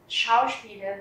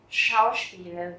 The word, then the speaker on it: Schauspieler: Schauspieler werden. Và các bạn chú ý là âm SCH ở đầu chữ đó chúng ta sẽ đọc là âm SH, tức là chữ SH rất là nặng. Schauspieler werden.